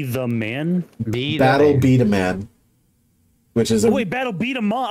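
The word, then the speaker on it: B-Daman: Which is Battle Be the Man. Oh, I always pronounce it Battle Be the Man. Be the Man. Because it's D-A-M-A-N. But they... I guess so. I always said Mon.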